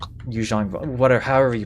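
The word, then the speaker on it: Yuuzhan Vong: So like that's already pronounced Yuzong Vong Yu Jang Vong what however you pronounce it like Mhm.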